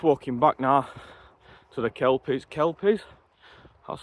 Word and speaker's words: Kelpies: I'm just walking back now to the Kelpies, that's how you pronounce it, with drone.